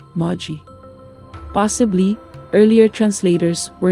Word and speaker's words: Magoi: This ancient Greek word is written, Magoi, but the correct pronunciation is, Magi.